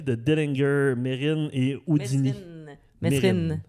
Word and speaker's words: Mesrine: Mesrine. Mérine. Ah, c'est comme ça qu'on le prononce? Je suis pas mal sûr.